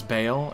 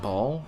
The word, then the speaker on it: Baal: The greater evils were Diablo, Baal, whose name is Baal, and is definitely not Baal, and who on earth would pronounce it Baal?